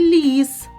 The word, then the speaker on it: ліс: створюють язик і зуби у слові лис звук л звучить твердо А у слові ліс ль звучить м'яко Тож у слові лис